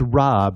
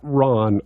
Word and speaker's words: Rob: So it's Rob. It's not Ron, because most people say Ron. They see the, but it's Rob, ROBONDRAS.